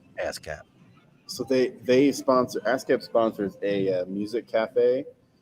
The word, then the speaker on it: ASCAP: I really thought you said ass cap, like ass cap. I did, but it's spelled with one less S than you think. Really But that's what it is. Ass cap.